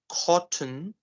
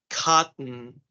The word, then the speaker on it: cotton: Let's say instead of saying cotton, cotton, which is the Mm-hmm. British pronunciation. So instead of saying cotton, Mm-hmm. we're going to say this word as cotton, Okay.